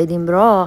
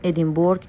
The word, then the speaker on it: ادینبرا: بچه‌ها اصلاً می‌دونید که ادیمرا حالا ما میگیم ادیمبرگ اشتباه تلفظش میکنیم لوکیشن هری پاترم بوده